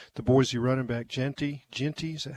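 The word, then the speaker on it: Jeanty: more chance uh the Boise running back Genty Genty is that how you say it yeah he's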